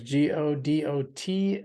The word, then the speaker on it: Godot: their new version called Godot that is g-o-d-o-t sounds like looks like gadots pronounce Godot it's supposed to go